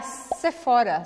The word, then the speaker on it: Sephora: falando Sephora, Sephora, Sephora, PH em francês é som de F, Sephora, esse O é bem fechado, Sephora. E como todas as palavras quase em francês, a sílaba forte é a última, a não ser que ela termine com um E. Se terminou com E, a sílaba forte não é a última, mas nos outros casos sim. Então aqui a gente vai falar Sephora. Abre no final.